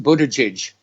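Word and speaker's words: Buttigieg: in the polls anyway and it's pronounced Budaj what a judge remember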